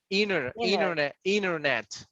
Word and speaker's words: internet: internet. You don't say T, Internet.